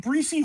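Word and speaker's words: Breece: He said Bryce Breesy Hall? Hall. This dude is so stupid. It's not. It's spelled like Brees.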